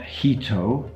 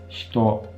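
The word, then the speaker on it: 人: It's not hito, I've already explained that. It's hito. The first syllable there is basically devoiced completely.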